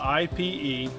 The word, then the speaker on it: Ipe: Yeah, Ipe is spelled I-P-E.